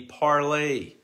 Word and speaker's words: Parler: social media app parlor the mispronunciation parlor was meant to be parlay as in the french to talk parlay but of course who